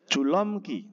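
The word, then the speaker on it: 줄넘기: Apabila ada nien ketemu dengan real ya, ataupun di entah posisinya di belakang ataupun di depan.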